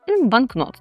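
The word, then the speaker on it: banknot: Банкнот - це означає банкнот. Так, зверніть увагу на наголос банкнот.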